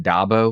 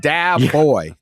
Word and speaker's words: Dabo: I guess uh Dabo did you used to pronounce it dbo yeah yeah you did didn't knew dbo yeah I knew it it's not a real word it's not a real word yeah it's dab boy that's what it stands